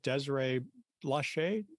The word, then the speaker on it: Desiree Blache: the world today I will be visiting with Desiree Lachey did I pronounce that correctly that's correct okay I just